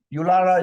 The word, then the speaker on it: Yulara: And And so you're pronouncing Uluru, Ulu? Uluru. Uluru. Yulara is the name of the town, but Uluru is the Aboriginal word for it, Uluru.